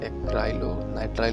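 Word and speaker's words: acrylonitrile: तो इसको ठीक से प्रोनाउंसिएट करें, एक्राइलोनाइट्राइल होता है।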